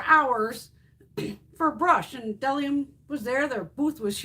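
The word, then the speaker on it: Bdellium: Delium Tools. The B is silent.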